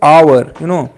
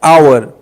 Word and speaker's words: hour: Like when we talk about hour. So when we see like you know yeah, here we can say an hour. Why we are using here an before hour? Because H is silent.